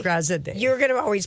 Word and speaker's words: Graziadei: And it's Joey Graziadei. Of course, Joey it is. Graziadei. Graziadei. You're going to always pronounce his last name.